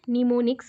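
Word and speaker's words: mnemonics: spelling ऐसा कुछ है निमोनिक्स बोला जाता है एम से स्टार्ट होगा बट एम प्रोनाउंस नहीं होगा साइलेंट है निमोनिक्स कहा जाता है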